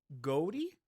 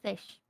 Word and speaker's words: GHOTI: If the GH sound in enough is pronounced F, and the O in woman makes the short I sound, and the TI in nation is pronounced sh, then the word goatee is pronounced just like fish.